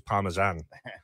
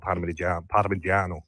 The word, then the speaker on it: Parmigiano: Well, it the anglicized form is Parmesan, but it should be called Parmigiano.